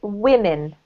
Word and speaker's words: women: woman the second one is plural and we pronounce it women or women women yes women women that's right so when you're